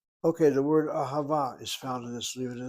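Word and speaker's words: אהבה: With vowels, a chata patach underneath the aleph, a kamatz underneath the hey, a kamatz underneath the second hey, ahava.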